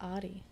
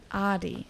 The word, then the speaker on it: Adi: girl doll sorry okay adi we're going to change our enunciation of the a over here adi was um an